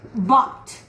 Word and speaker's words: bought: The past tense of buy is bought. Remember that in the word bought, we don't pronounce the GH.